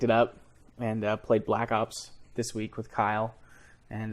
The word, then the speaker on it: Black Ops: up and uh played Black Ops this week with Kyle and uh wait it's not pronounced blops I don't say blops because I'm not a dude bro oh Kyle send in